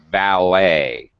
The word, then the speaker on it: valet: Buffet, ballet, the person who parks your car outside a fancy restaurant is a valet. Ballet. It sounds like an A-Y ending.